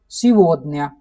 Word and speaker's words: сегодня: So same like that in English, Russian pronunciation and then written form. So today is aaj, but in Russian sivodnya.